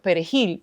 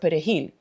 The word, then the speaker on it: perejil: Thinking of race, the 1936 massacre of Perejil is parsley. And because the Spanish he is not pronounced in French, they will ask a person to say the word perejil.